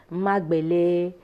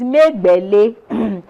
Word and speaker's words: Megbele: pronunciations for my surname i've heard belle que magbelei me belle you know so when i did the song i pronounced my surname the way it is supposed to be but some people still do it so for the benefit of people who are listening it is made barely and um and that